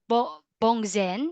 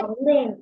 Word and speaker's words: bóng đèn: A bulb, or according to Google, is it bongzen? Is that how you say it? Bóng đèn. Bóng đèn.